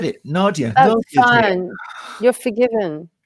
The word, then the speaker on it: Nadéah: So I shall give her a little countdown and then bring up Nadéah with this syllable on the last bit.